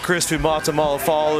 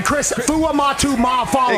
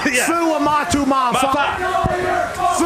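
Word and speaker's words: Chris Fuamatu-Ma'afala: Chris Fumata Malafalu. That's not his name. Chris Fuamatu Mafala. Exactly. Mafa? Yes. Fuamatu Mafala. You put too many syllables in that.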